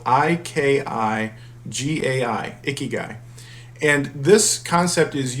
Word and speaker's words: ikigai: i'm not sure i'm pronouncing it right but it's spelled i-k-i-g-a-i ikigai and this concept is usually applied to